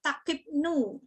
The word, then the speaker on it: takipnea: Kalau nafas, kalau lebih namanya takipnu. Takipnea tulisannya. Bacanya takipnu. Kemudian kalau kurang dari normal, kalau nadi bradikardi, kalau nafas bradipnu.